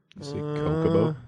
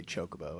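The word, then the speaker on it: Chocobo: I always that's how as a kid I pronounce it until I finally heard someone say chocoo and then I'm like oh okay you know there's an H there right chocoo Coco well CH can make a sound that's not true I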